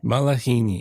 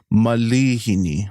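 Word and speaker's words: malihini: say mispronunciation but yeah a lot of people think there's a actual a after the the L but it's I so it's going to be Malini Malini Malini yeah there you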